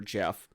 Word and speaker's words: GEF: now I've also included gef in here or Jeff it's pronounced and this really is